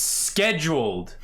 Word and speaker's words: schedule: It's scheduled. The H is silent, alright?